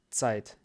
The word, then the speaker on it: Zeit: Z произносится как Ц, как третья буква, да? Но она всегда Ц, а не К или, я не знаю. Есть немецкое слово Zeit, die Zeit.